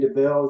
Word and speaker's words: Debel: I am here with Darren Debel. Is that the correct That is You're one of the few that pronounced it correctly.